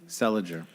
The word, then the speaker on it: Seliger: How do you pronounce his last name? Seliger.